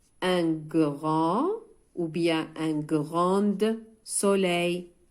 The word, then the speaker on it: grand: C'est un grand verre. Le verre هو الكأس. Grand, كبير. لاحظوا أيضا D هنا حرف D لا ينطق.